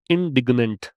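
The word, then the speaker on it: indignant: क्या है प्रोनाउंसिएशन इसका? इंडिग्नेंट।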